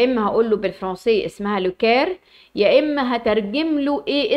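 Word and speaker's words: Le Caire: اما بالعاميه هقول له القاهره زي ما انا بنطقها بالعربي يا اما هقول له بالفرنسيه اسمها لوكير يا اما هترجم له ايه اسم القاهره دي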